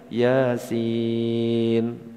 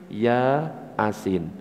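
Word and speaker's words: يس: Yasin gitu kan bacanya. tulisan kalau latin ya asin akhirnya dibaca bismillahirrahmanirrahim ya asin betul apa gak ya beda.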